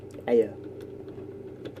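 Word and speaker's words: Aer: Let's not be pronouncing air funny, it's Aya.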